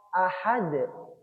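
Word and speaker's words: أحد: Lalu yang ketiga adalah huruf dal di akhir ayat 1. Karena ahad dalnya disukun karena waqaf. Karena dal ini adalah huruf qalqalah. Sekali lagi harus dipantulkan. Ahad. Ingat ahad di ujung lidah. Ahad bukan ahad bukan d bukan d tapi dal ahad ahad giih jadi terkesan agak di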